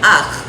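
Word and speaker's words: אח: Y esto es A-H, es Aj, que es hermano, que pronunciamos como Aj.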